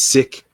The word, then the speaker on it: Sikh: of the Sikh people, Sikh, I think it's sick. I need to say it right. Sick, sick.